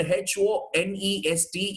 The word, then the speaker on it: honest: is no h sound there is no her sound the word h-o-n-e-s-t is nothing but this this is the pronunciation honest right say for example what